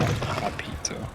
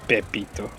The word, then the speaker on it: Pepito: It's not Papito. It's Pepito, like Pepe.